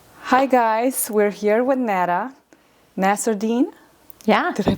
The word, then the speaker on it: Lena Nasserdeen: Hi guys, we're here with Lena Nasserdeen. Yeah. Did I pronounce it?